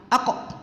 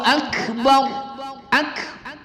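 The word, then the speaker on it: أكبر: Yang kedua pada kalimat ak, kaf berbaris sukun, ak. Masih ada yang kita dengar itu memantulkan seperti qalqalah, aku. Nah, itu salah, ya. Kaf sifatnya adalah mahmus atau hamas, berdesis sedikit. Jadi Allahu akbar, bukan aku, ya.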